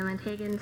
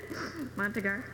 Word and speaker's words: Montagar: And this session is given by David Caffey, a consultant out of Dallas, for the Montagan Software Concepts. I probably butchered the name. That's close. Montagar.